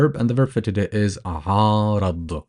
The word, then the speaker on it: عارض: The letter Ain, you pronounce it from the back of your mouth, and it is the equivalent of pronouncing 3 A's together, but obviously we do not extend that much.